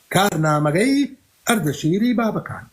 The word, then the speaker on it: كارنامجي أردشيري بابكان: فمن ضمن الملوك الذين حاربهم هذا النص في كتاب كارنامجي أردشيري بابكان. عندما أقول كارنامجي أردشيري بابكان هنا أنا لا أنطق بالكردية، هذا هو النطق البهلوي لاسم الكتاب.